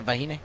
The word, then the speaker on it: Vahine: Yeah, Vahine.